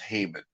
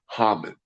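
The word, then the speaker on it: Haman: our Jewish holidays so the bad guy in the porm holiday is hmon or we pronounce him Hamman and uh you could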